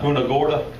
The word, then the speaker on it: Punta Gorda: Out of how do you pronounce that, Brian? Punta Gorda, Florida.